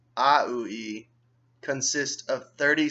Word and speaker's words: aUI: The language, A, lowercase, UI, uppercase, pronounced AUI, consists of 30 sounds, each a category and a symbol.